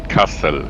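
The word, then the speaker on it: Kassel: you're going left towards casel I thought it was pronounced Castle I don't really care how it's pronounced I'm just curious I thought it was pronounced pronounced in German Castle yes there we go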